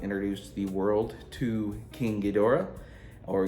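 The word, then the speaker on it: Ghidorah: Um, this was the film that introduced the world to King Gdora or Geda, however you want to pronounce it. I always pronounced it, Gdora, because that's how everyone pronounces it in the movie and in the pipe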